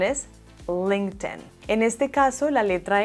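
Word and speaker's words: LinkedIn: no hay nada como esta plataforma su correcta pronunciación es un link ten en este caso la letra y no suena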